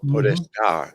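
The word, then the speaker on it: podestà: podesta in Italian, with that Powerful. accent on the end, which means powerful, and Yeah.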